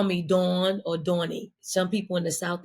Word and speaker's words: Dawn: Like I I think it's such a Philly thing and it it actually rhymes with my name Dawn and John.